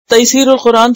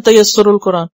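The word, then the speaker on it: Taysir al-Qur'an: यस्सरा युयस्सिरु तैसीर, वो एक तफसीर भी है, तैसीरुल कुरान, तो लोग उसको पढ़ते हैं तैसरुल कुरान, अक्सर लोगों को मैंने ये गलत तरीके में प्रोनाउंस करते सुना है, वो है तैसीरुल कुरान।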